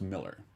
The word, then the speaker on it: Millar: but it's Mark it's Miller. Miller. Right. He's like, no, that's the way. It's the British pronunciation of the A.